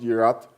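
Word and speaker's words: יראת: Now, the word fear in this verse, like we said, comes from a Hebrew word, which is pronounced yirat, which means reverence.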